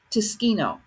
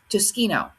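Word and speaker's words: Tsukino: real name is Usagi Tsushkino. Pretty sure that's how you say it, Tsushkino.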